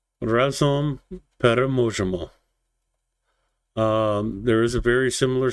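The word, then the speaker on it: Разом переможемо: And just so you know that I'm not mispronouncing it, Razom Peremojemo.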